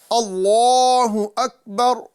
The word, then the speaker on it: اللہ اکبر: اللہ اکبر، اللہ اکبر، اللہ اکبر۔ اس کا صحیح تلفظ یہ ہے کہ ہم اس میں جلالت اللہ کے لام کو پر کریں اور اس کو ایک الف کے برابر کھینچیں، اور ساتھ ہی ساتھ